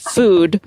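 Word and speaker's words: Fude: I believe it's just probably pronounced food. Strength food, but it's spelled, food is spelled F-U-D-E.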